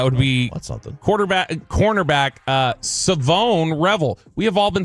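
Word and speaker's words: Shavon: uh on Friday night it's actually Savone. So it is not Siobhan, it is Savone. How does he spell it? S H A V O N which looks like Siobhan. Siobhan, but it's Savone.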